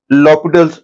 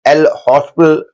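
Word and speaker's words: L'Hôpital: है तो वी यूज लॉपिटल्स rule, जिसको कई लोग एल हॉस्पिटल रूल बोलते हैं, लेकिन एक्चुअली करेक्ट प्रोनाउंसिएशन उसकी लॉपिटल्स रूल है।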